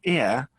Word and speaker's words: ear: or an ear so the first thing to notice is that one is ah the other is an which tells you ear starts with more of a vowel sound so be careful to